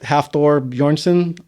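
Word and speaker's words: Hafþór Björnsson: but I I like half Thor bjornsson I believe is pronounced from Game of Thrones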